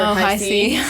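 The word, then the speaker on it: Hi-C: I honestly thought it was Hick. It's High C.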